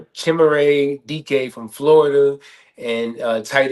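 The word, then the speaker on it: Chimere: the way it's it's spelled the first name is spelled, but I know his last name is DK, right? Chimé. Chimray DK. Chimray DK from Florida.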